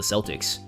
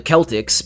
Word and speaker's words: Celtics: I mean, the fucking basketball team is called the Celtics. They should be called the Celtics, because that's actually how you pronounce it. But Americans call them fucking Celtics for some reason.